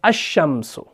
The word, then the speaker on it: الشمس: ہے، ٹھیک ہے نا۔ جب بھی کوئی اسم حروف شمسی سے شروع ہو رہا ہو، اگر اس پر الف لام داخل ہوگی تو لام کا تلفظ نہیں ہوتا، ٹھیک ہے نا، تبھی ہم پڑھتے ہیں الشمس، ٹھیک ہے جی۔ تو اب کیا آئے گا؟